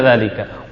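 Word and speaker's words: ذلك: Sampai kapanpun dzalika pasti dibaca dzalika.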